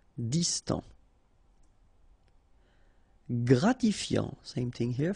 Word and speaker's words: distant: Final T not pronounced. Distant.